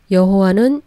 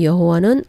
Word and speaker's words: 여호와: 여호와는 영국식 발음에서 온 것이라고 했었는데 최근 연구한 학자들에 의해서 여호와가 오히려 더 원래 발음에 가깝다는 발표도 나오고 있기는 합니다.